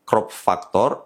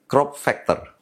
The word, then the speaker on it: crop factor: yang benar adalah mirrorless crop Factor sering salah disebut sebagai crop ftor atau crop ftur kalau mau di Indonesia kan mestinya faktor crop jadi crop Factor shooting bukan shting atau